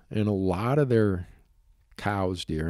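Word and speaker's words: Coues deer: a lot of their cows deer I'm going to say it correctly cows even though most people call it Koo Deer uh and a lot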